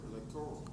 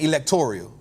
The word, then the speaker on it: electoral: you say the word electoral electoral electoral so I was saying electorial so maybe I say that wrong electoral electoral like Toro Toro so electoral electoral what